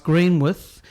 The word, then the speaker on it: Greenwich: Facebook just yesterday someone was asking about the pronunciation of green with you saw the same thing and people were saying no it's green with whereas yeah tends to be from an English